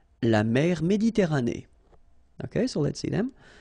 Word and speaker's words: Méditerranée: La mer Méditerranée. Okay, here final E not pronounced, but then you pronounce this E at the end. Méditerranée.